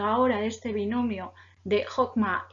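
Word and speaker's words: חכמה: Igual que Jokma escribimos con CH, pero pronunciamos Jok, ¿vale?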